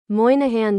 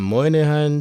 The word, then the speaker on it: Moynihan: This is the Moihan Train Hall, a train station building whose name I can't seem to pronounce. Moahan Trainh Hall. Ah, Moahan Trainh Hall.